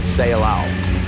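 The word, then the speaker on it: Ceilão: India remains simply Salon that word Salon is as a matter of fact a mistaken pronunciation of the Portuguese word seow the name given by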